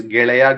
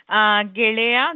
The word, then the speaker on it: ಗೆಳೆಯ: Smruti ma'am, can you quickly pronounce these words? Gelaya, Gelati. Yes, yes. Geleya, Gelati.